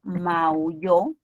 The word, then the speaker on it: maulló: Y si pronuncio maulló, estamos frente a una palabra aguda.